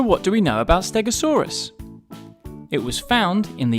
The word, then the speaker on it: Stegosaurus: learn all about stegosaurus how do you say that again stare go saw russ can you say it with me stare go saw so what do we know about stegosaurus it was found in